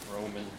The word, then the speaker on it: Róman: Just to be sure, your name is Róman. Róman. Róman. Yep. Yeah, okay. Just don't want to mispronounce it. No, it's Roman. Usually in English I always say Roman like the Romans, and people are making fun of me.